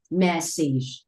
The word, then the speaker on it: message: Chữ a g e đứng ở cuối chữ là mình luôn luôn là thấy là âm y luôn. Vậy ở đây anh sẽ đọc là message, message, message.